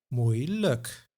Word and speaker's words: moeilijk: Moeilijk. Makkelijk. Pijnlijk. Nauwelijks. Now this is a video on the I sound, but the suffix like is pronounced as luk.